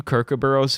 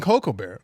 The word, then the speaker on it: kookaburra: No, I've never seen a fucking cocoa barrel. It's not a barrel of cocoa, you dumbass. It's a cocoa barrel. They're not rolling it into Cocoa Pebbles factory.